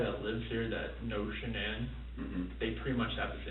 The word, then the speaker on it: Shanann: And I don't want to pronounce her name wrong. Shanann. Shanann?